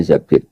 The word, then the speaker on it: Zabir: Di di hadis ini bukan bacanya bukan Zubair tapi Zabir. Abdurrahman bin Zabir.